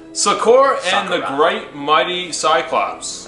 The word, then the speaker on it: Sokurah: Yeah, Sokurah. That's how you pronounce it. Sokurah and the great mighty cyclops.